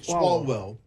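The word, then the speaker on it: Swalwell: Salwell. Swallwell.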